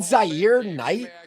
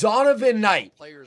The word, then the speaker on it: Zonovan Knight: Is it Zier Knight?